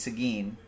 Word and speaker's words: Seguin: is what I'm saying it's Seguin but it's Seguin like Carl Sagan but he doesn't spell